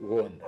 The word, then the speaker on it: Gonda: Tata ou tata on dit on écrit Gonda. Ah mais on prononce à kikongo en on dit Wonda.